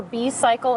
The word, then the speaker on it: B-cycle: On a This is bicycle. Carrie. She is the executive director of Denver Bicycle. Is it Bicycle? Am I pronouncing that right?